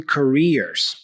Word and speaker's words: careers: I mispronounced my target word, careers. It's careers, right? So you'll see here, try again. Pronounce double E for career, all right?